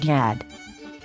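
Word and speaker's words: יד: a long ah sound so we pronounce the y sound with an ah sound ya ya plus a d sound forms the word yad yad yad means hand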